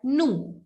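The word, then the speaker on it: nous: plural which is v in french it is called nu v is called nu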